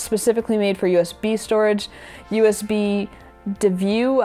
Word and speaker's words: USBDeview: One that's specifically made for USB storage, USB DeView, I think is how you say it. It's USB D, then EVIEW. So let's call it USB DeView.